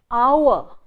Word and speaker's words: hour: Hour, that's the most commonly mispronounced triphthong. So we say in the first hour, let's meet. What do we do with the oo? We swallow the oo, because the oo is supposed to be said very fast, and when